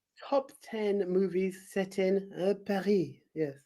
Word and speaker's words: Paris: 10 movies set in Paris. Yes, Paris. You don't pronounce the S if you're from France.